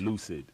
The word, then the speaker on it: 1Ucid: Oh, you spell it with one UCID. So how's that pronounced? Lucid.